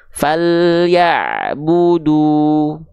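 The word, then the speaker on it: فَلْيَعْبُدُوا: Falyabudu. Falyabudu, nggak perlu ditarik-tarik ya. Falyabudu, nggak, langsung monyong aja dua-duanya. Falyabudu.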